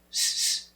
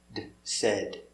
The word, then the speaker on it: said: Said. Said. So remember, it's not said, it's said.